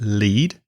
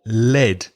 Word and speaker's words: lead: with the pronunciation because l-e-a-d can be pronounced lead or led so the pronunciation here is lead so what does it